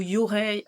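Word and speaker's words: yūrei: Et une troisième partie sur les yurei, donc ou yurei en français, enfin avec la prononciation française, où là on vous dit bien que donc ce sont les spectres effrayants.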